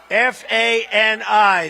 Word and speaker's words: Fani: F-A-N-I. That's pronounced Fanny, but you're not allowed to say it. It's Fani.